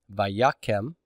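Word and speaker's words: וַיָּקֶם: Vayakem, accent on the ya, segol under the first root letter.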